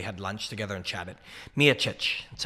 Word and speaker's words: Miocic: Whenever I need a perfect pronunciation, I ask my friend John Anik. Miocic. That's how he says it.